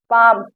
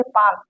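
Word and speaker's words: palm: इसे पाम, यहाँ पर यल साइलेंट है।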